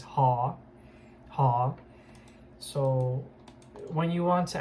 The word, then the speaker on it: họ: Last name in Vietnamese is actually pronounced as ha.